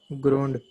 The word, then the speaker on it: groaned: Groaned. Groan. Very good. Groaned. After sound n, ed is pronounced as d.